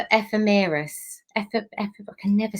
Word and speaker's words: ephemeris: I keep calling it the epidermis because I do skin, and it's not skin. I will. How do you say that word again? It's the ephemeris.